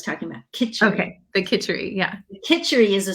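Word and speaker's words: kitchari: the roughage and the jittery. Am I pronouncing that correctly? Oh, we do kitchery.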